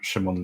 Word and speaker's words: Szymon: not usual so yeah to pronounce it correctly i'm shimon i know who she